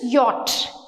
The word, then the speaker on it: yacht: YATCH, yacht అని నేర్పిస్తారు. YATCH pronunciation is yacht.